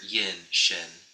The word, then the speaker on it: Yinxin: The way you pronounce my name in Chinese is Yinxin.